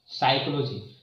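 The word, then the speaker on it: psychology: साइकोलॉजी है तो यहाँ पर देखें, यहाँ पर साइकोलॉजी तो यहाँ पर पी साइलेंट हो गया है।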